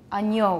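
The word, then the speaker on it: agneau: what comes next okay try saying french words such as ano anio which is a lamb and that's used in church lamb of god everyone agno and spanish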